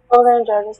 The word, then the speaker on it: cholangitis: Cholangitis, does this contain the Greek suffix itis, meaning inflammation?